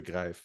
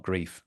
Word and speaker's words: Greif: should have considered that EI particularly after living in Germany for three years should be pronounced gri and not grief I mean I I